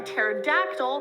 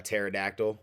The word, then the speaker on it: pterodactyl: A pterodactyl. You know what I'm saying? That's spelled all weird. Pterodactyl starts with a P for any of those who didn't know.